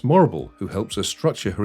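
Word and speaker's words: Morrible: Wicked's greatest lesson is perhaps that anyone whose name rhymes with Horrible is not to be trusted. As Morble is later revealed to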